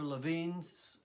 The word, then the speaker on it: Lewin: As Lewin or Levine says, it's pronounced both ways, there's nothing so practical as a good theory.